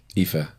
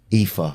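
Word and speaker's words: Aoife: you'll meet like somebody a oi f e eepa epha yeah and that's doesn't really NE we we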